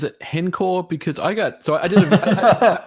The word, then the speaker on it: h-encore: I think you're right I just hate not saying hen when I know that's what part of you would just use use it interchangeably but no to pronounce that I would say H encore is the proper way cool yeah I got